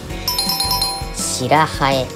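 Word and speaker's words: 白南風: 正解は白蠅。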